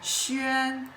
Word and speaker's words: 轩: it pronounced as sh means pavilion. Okay. So what is the history of sh look at the structure of this character is